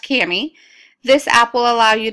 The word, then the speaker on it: Kami: store type in the name of the app Camy it's spelled k a Mii press enter and it